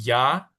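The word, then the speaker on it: ja: Na es no y ya es sí. Ya se se escribe j a ya.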